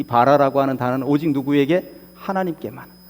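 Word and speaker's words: ברא: 그런데 저 말씀 가운데 태초에 하나님이 천지를 창조하시니라 할 때 창조라고 하는 이 단어가 히브리의 원어로는 바라라고 그럽니다. 제가 원어를 쓰지는 않겠습니다. 우리말로 발음이 바라예요. 바라. 사람도 뭔가를 만들어낼 수 있고 발명을 할 수도 있고 그렇습니다.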